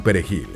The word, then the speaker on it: perejil: Este genocidio se llamó la masacre del perejil por un detalle en la pronunciación de esta palabra. En la lengua creole de los haitianos no se pronuncia la r suave, así que pronunciar esta palabra delataba a los inmigrantes ante la policía.